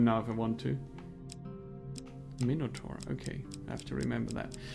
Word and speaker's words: Minotaur: It's pronounced Minotaur. Mode I didn't know that. If you wish to test your skills against chance itself. Minotaur. Yeah, makes sense. In German it's similar. Minotaur.